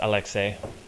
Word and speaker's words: Alexei: really do anything memorable his son Alexei or Alexis if we want to americanize it it would actually be pronounced Alexei which isn't a girly name um he really emphasizes